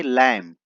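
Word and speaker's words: lamb: मेमने को अ लैम इसको पढ़ेंगे लैम बी साइलेंट है भेड़ों के झुंड से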